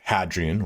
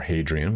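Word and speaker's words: Hadrian: It's it's the time in which he passes on his rule to Hadrien or Hadrien, whichever you want you want to pronounce it as.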